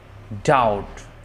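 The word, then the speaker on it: doubt: নাম claim claim claim ওয়ার্ডের মধ্যে বা শেষে বিটি পাশাপাশি থাকলে বি এর উচ্চারণ সাধারণত হয় না বিটি যেমন date indebted in dated ডাউট এই ধরনের ওয়ার্ড গুলো তারপর লক্ষ্য করুন সি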